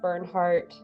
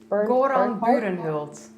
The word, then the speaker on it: Burenhult: But I will say that Bernhardt or Bernhorlt, how do you say his name again? Goran Burenhult.